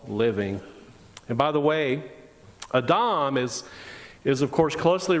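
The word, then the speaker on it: אָדָם: to interpret these stories the word atom or a Dom the way it would be pronounced in the Hebrew is the word for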